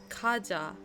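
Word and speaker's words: cajá: Kaja. Like, just like a j sound.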